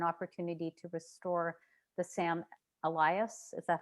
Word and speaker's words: Elias: And I understand that you had an opportunity to restore the Sam Elias. Is that how we pronounce Elias?